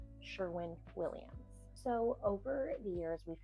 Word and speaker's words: Sherwin-Williams: I butchered that before and said Sherman, and y'all came for me, so I apologize. It is Sherwin-Williams.